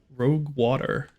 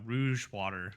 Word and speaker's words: Rouge Water: Rogue Water. Rogue Water. It's actually Rouge Water.